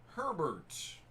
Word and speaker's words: Herbert: Herbert. Rhymes with Sherbert.